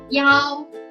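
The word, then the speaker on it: 幺: Both pronunciation are in the first tone. Let's try again. The first one, yi. The second one, yao.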